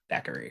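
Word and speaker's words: Thackery: you kind of say it like you do spookies. Every time you like to say spookies, you're like, Thackeray.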